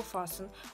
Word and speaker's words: fasten: принципе и всё вот такой вот интересный глава фас у учитесь его правильно произносить фасон несмотря на то что это тип